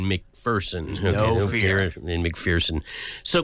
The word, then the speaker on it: McPherson: was so polite that when I mispronounced his name for years, he never told me. And somebody else had to say, there's no fear in McPherson.